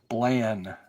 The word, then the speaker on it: Blann: Bland.